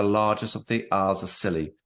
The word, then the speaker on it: Scilly: of the hours of silly pronounced silly um no 28 miles